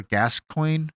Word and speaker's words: Gascoigne: way to the I don't know how to pronounce his name father gascoigne is how you say his name gascoigne yeah